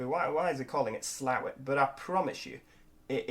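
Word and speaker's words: Slaithwaite: area you'll be why is it calling it slow it but i promise you it is pronounced slower and i've got my map open here on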